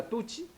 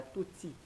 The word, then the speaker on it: Tutsi: Donc azozwa tantôt azo utiliser ba concept ya bato ya pareko azo benga tuchi te prononciation nango ya malamu eza tutsi nde boy de tutsi.